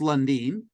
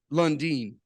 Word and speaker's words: Lundin: Pronounced Lundin. Lundin.